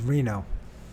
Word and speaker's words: Renaud: How to say Renaud? Okay. Reno. I was saying it right. Reno. It's Reno. Get rid of those.